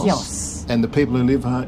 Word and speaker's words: Chios: We had many ideas of how to pronounce this island's name until we got here, but we discovered everyone is saying Chios. Chios.